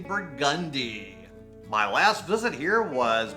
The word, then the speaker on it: Burgundy: at 1201 burgundi Street everywhere else in the world you pronounce that burgundy but in New Orleans we say burgundi my last visit here